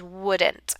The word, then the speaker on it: wouldn't: So that's how we contract would and not is wouldn't. Again, make sure you don't pronounce that L. That L is silent.